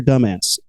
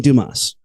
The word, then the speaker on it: Dumas: written by French author Alexander dumbass I mean Dumas sorry I couldn't help